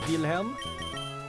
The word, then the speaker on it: Wilhelm: Get me in Shao, Wilhelm. You gotta pronounce it the German way. Because Wilhelm is German, I think.